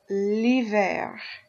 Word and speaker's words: hiver: And we'll start with l'hiver. L'hiver. We have the L apostrophe, the L apostrophe here because the H is silent, so it doesn't really tell you if it's masculine or feminine with that vowel missing.